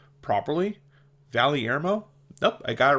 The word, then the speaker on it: Valyermo: Valermo. Nope. I got it right the first time. Hey, good for me. Valermo.